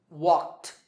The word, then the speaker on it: walked: In number one, the last sound is k, which is unvoiced, so the ed ending is pronounced t. Walked, walked.